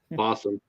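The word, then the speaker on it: Fawesome: Fossum. I keep on thinking Fossum Possum. Awesome Possum. And it's spelled like awesome too, but it's F-A-W-E-S-O-M-E.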